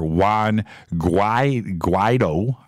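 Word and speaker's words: Juan Guaidó: President Trump announced today that he is recognizing Venezuelan opposition leader Juan Guaido.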